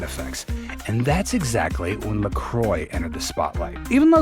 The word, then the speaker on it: LaCroix: LaCroix was created to appeal to a different crowd, marketing itself as an all-occasion beverage that was more approachable and down-to-earth. Its name, pronounced like St. Croix River, that forms most of